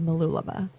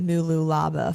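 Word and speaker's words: Mooloolaba: It was called Malu Laba. I pronounced it Mulu Laba for the long longest time until I got there and figured out it was not called that.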